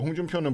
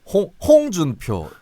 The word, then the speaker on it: 홍준표: 홍준표 이렇게 하거든. 홍준표죠. 네. 홍준표 아니고 홍준표. 홍준표. 따라해봐요. 홍준표. 홍준표. 아, 참나. 홍준표. 홍준표. 네, 이게 경북 발음과 경남 발음의 차이입니다. 경북은 홍준표, 경남은 홍준표.